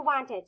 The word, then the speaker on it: wanted: So let's go back to wanted. So again, now it's spelled W-A-N-T. So the A's right, but it needs to be E-D, because remember, when a word ends with a T, the E-D says id.